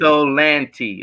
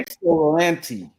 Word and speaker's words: Ypsilanti: Thank you, Edward, for you always come on here and explain how to pronounce that city. I appreciate Ypsilanti. Okay. Ypsilanti. Okay. Ypsilanti.